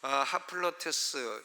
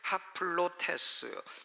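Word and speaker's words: ἁπλότης: 하플로테스 좀 어려운데, 하플로테스, 이 헬라어 첫 단어인 알파에다가 이 순표가 까꾸로 찍혔어요. 까꾸로 찍히면 아가 아니라 하로 발음해야 돼요. 하플로테스, 이것은 풍성한 연보라고 번역이 되었습니다.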